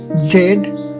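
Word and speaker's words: Z: ইউ ইউ ভি ভি ডাব্লিউ ডাব্লিউ এক্স এক্স ওয়াই ওয়াই জেড অথবা জি। এই জেডের উচ্চারণ দুটি, একটা হচ্ছে জি আর একটা হচ্ছে জেড। তবে মনে রাখবা আমেরিকানরা জেড রে জি বলে এবং ব্রিটিশরা জেড বলে।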